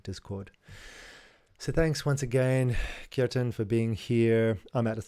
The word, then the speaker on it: Kjartan: Someone didn't understand how to pronounce my name, which you pronounce it Kjartan, and there was a lot of noise in the area.